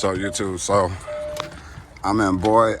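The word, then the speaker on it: Boise: YouTube so I'm in boy Idaho or boys boys boy however you pronounce it I believe it's boys uh any who I'm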